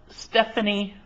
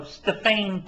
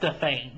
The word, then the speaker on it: Stephanie: Greco, Tommy Lee, and Stephanie. Oh no, Stefane Taylor. Although it's spelled Stephanie, it's pronounced Stefane because I was actually there taking pictures.